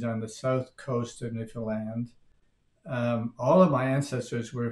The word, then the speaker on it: Newfoundland: Well, we would never say Newfoundland. We would say Newfoundland. We wouldn't even pronounce the D on the end of the name.